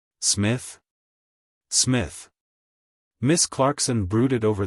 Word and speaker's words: Psmith: is Smith P Smith the p is silent Smith Smith Miss Clarkson brooded